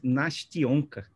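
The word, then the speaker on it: Настенька: Andrelina explica aqui que a pronúncia é Nastionka.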